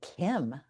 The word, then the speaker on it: CIEM: I'd add, and by the way, I pronounce it Kim, CIEM.